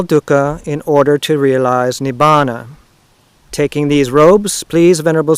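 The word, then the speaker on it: Nibbāna: of all biological beings nibana is the word it's our pronunciation of nirvana and so to be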